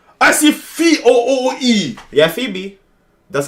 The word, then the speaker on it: Phoebe: Yeah, Phoebe. That's how it's pronounced.